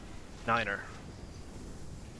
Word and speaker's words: nine: And last but not least is 9 is said like niner. Now, it doesn't mean that you have to say those phonetic numbers just like that.